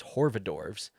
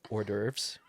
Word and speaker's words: hors d'oeuvres: And I go in there, and I remember grabbing their what I thought was Horvadorves. Apparently, you pronounce it hors d'oeuvres.